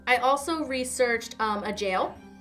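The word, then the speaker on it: gaol: also researched um a jail o do you like how they spell jail they spell it g a o l oh that's interesting yeah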